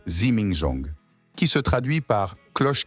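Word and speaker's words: 自鳴鐘: conception complexe et leur innovation technique les zimingzong prononcé zimingzong qui se traduit par cloche qui sonne d'elle-même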